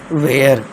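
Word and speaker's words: ware: फिर है वेयर।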